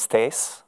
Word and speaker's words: Thijs: do this hello everyone my name is stace that's how you pronounce this thing i am a